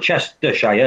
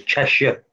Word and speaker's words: Cheshire: No, it's not Chestershire, it's Cheshire. It's different.